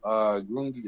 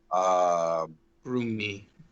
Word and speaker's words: Grungni: So are you one of the few Durden or Cardoon that worships Grungi, or however the hell you say his name? Grungni. Grungni is what they all say.